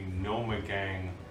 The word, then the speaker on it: Gnomegang: Wait, it's from the Gnomegang blonde ale. It's a gnome sound.